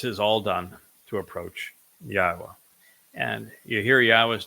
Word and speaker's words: Yahowah: All That Remains is how to pronounce the W which I am offering the o sound because it's a vowel and that shouldn't be